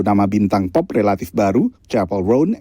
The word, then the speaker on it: Chappell: Lalu nama bintang pop relatif baru, Chappell Roan, yang nama pertamanya sering salah pelafalannya menjadi Chappelle.